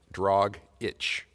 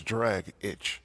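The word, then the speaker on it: Dragić: lot I agree I I always thought it was dragic and drit like drag it but it says d r a g i c that's drag itch yeah or dragic as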